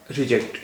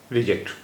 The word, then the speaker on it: reject: देखिए, ये एक शब्द है रिजेक्ट, स्पेलिंग है REJECT, रिजेक्ट। अब यहाँ भी स्ट्रेस के फर्क से इसके मीनिंग बदल जाएंगे। इसमें JECT, जेक्ट, इस पर अगर हम जोर देंगे तो इसके मायने कुछ और होंगे, और अगर हम पूरे